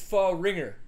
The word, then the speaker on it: Fahringer: Nick Fahringer, that's not just a name that you may not know how to pronounce. It's Fahringer.